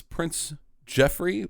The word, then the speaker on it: Joffrey: should be noted that the Prince of England's name is Prince Jeffrey but it's spelled in the Joffrey JRE he is Prince Joffrey do not take a